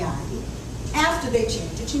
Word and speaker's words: Artea: her name, you see, we're from Massachusetts, we don't pronounce R's that come after A's. You know, park the car in the Harvard yard. So in actuality, before they changed her name, she was Auntie Artie.